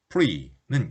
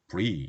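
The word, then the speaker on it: preux: 프랑스어 P-R-E-U-X, free는 용감한 기사라는 의미를 갖고 있습니다. free 이렇게 하면 되겠죠?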